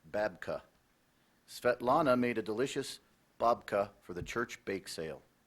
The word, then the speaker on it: babka: s m altruism that is correct bubka also pronounced babka Svetlana made a delicious babka for the church bake sale babka also pronounced